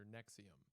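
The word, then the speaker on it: NXIVM: On November 10th, 2025, television actress Alison Mac debuted a new podcast called Alison After Nexium. Although you would never guess Nexium's pronounced that way if you look at it.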